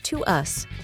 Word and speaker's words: TWS: Now that you know Pledis Entertainment is owned by HYBE, let's just say TWS, pronounced as To Us, is HYBE's next boy group of 6 members.